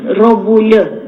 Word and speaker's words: Robulya: The right name to pronounce the surname is Robulya.